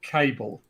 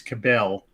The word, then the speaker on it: Cabell: author called james uh cable um i always pronounce his name as cabell because it's c-a-b-e-l-l i